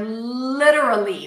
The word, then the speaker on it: literally: We have a light L at the beginning. Li, and I'm giving you the American, the more common pronunciation in American English. There are two, like several ways to pronounce this word. I'm going to give you one. Lida, lida. That's a flap T, so it's like a really, really light D.